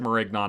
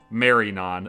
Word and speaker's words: Marignon: I said Marignon again in the last episode. It's pronounced Marinon, apparently. No G because of the French thing, I guess.